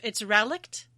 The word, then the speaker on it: relict: Matoya's, I can't remember, I looked up how to say this. Looks like relict. It's relict, and it is a thing which has survived from an earlier period or in a primitive form.